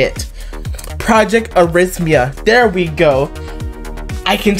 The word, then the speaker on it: arrhythmia: ready are heimdia oh rich mia that's what it's that's how you say it project arrhythmia there we go i